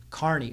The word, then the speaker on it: Kearney: She's an Irish girl, obviously, and her name for years we've been pronouncing it Kearney. Well, it's an Irish name. It's Gaelic. Pronunciation is Kearney.